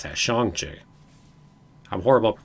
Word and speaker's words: Shang-Chi: Oh, is that how you pronounce that? Shang-Chi.